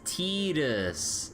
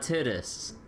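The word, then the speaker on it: Tidus: tittis but I mean that's how it's pronounced in Japanese with how they with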